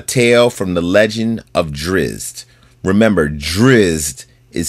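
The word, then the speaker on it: Drizzt: The DND story is called Comrades at Odds, a tale from the legend of Drizz. Remember, Drizz is spelled D R I Z T.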